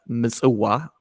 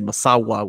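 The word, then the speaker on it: Massawa: The port city in Eritrea, Misuwa, which a lot of, because of the Turks and Italians, people say Masawa, which is crazy to me.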